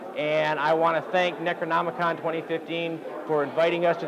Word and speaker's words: Necronomicon: Kathy thanks for hanging with us here at Necronomicon I said it right you did I did